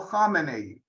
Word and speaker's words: Khamenei: And right there, I want everyone to get the difference in pronunciation. Khomeini does not equal Khamenei, and that'll be one of the test questions at the end.